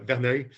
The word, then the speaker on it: Verneuil: So Verneuil, right? Or Verneuil, is that how you pronounce the project? It's a French name, so Verneuil.